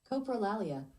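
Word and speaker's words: coprolalia: This is pronounced Copraalia. Copraalia.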